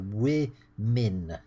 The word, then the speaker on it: women: And I'm going to write the way we pronounce the plural there, women. It's woman, women, quite different, the two sounds.